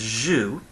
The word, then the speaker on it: Zeus: pronounce the Greek word Zeus, would pronounce Zeus as Zhu. You see, they would drop off the S part of the word. They'd soften the Z sound to a J sound.